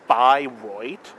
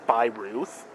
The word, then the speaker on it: Bayreuth: Yeah, eu in German makes a oi sound.